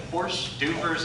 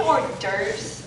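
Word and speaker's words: hors d'oeuvres: She can whip up a plate of horse dubers in no time. Horse dubers? Don't you mean or derves? Well, yeah, if you want to use the English pronunciation.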